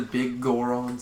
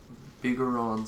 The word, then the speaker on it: Bigoron: Like you calling it the big Goron sword? Well, you see, no one's gonna get triggered by that, because that's the correct pronunciation. Incorrect. Bigoron sword.